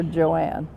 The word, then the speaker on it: Joan: It's spelled J-O-A-N, but my parents called her Joanne.